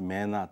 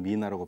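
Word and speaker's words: MENA: 노트아 아프리카 이게 줄여서 앞자만 따서 m 그래서 매나 또는 미나라고 발음하는데요.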